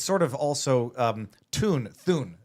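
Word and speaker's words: Thune: It's sort of also Thun, I'm told it's how it's pronounced, has a large role in deciding, what reaches the agenda when.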